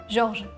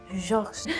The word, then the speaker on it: Georges: If you don't want, you don't put the S. I guess you don't pronounce it anyway.